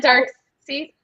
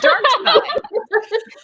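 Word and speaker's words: Darkseid: So, isn't it Dark Seed? Yeah, I've heard people say that. It's Dark Side.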